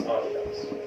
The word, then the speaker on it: Adidas: And by the way, that is indeed how you pronounce Adidas.